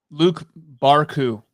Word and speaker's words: Luke Barku: Luke Barku. That's how you pronounce his name, Luke Barku.